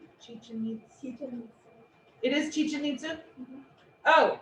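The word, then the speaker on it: Chichén Itzá: i find it fascinating i have been to chichen itzu is that how you say it chi-chin meets you it is chicha ninsu oh it's it's so exciting and i went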